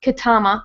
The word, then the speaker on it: Ketama: Her daughter's name is Ketama, which rhymes with mama.